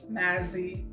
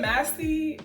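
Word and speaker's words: Massy: ruler shape girl is Mazzy Arias. Am I pronouncing her name right? Is it Massey or Mazzy? I think it's Massey, yeah.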